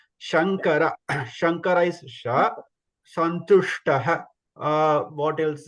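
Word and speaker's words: शङ्कर: So there is a difference between, please note the difference between in Shankara. Shankara is first Sha, normal Sha, that okay, and Santushtaha or Vishnu, that Sha is different. Okay, Santushtaha. So Sha, you should have that. You can feel the difference. You should listen, hear the difference clearly.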